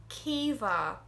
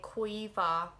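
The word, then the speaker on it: Caoimhe: a k then we have another tough one kiva or some people say koiva that's kind of more connect it's not he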